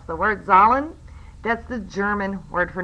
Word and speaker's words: Zahlen: The reason it's called Z is actually, and I'm going to mispronounce the word, Zahlen.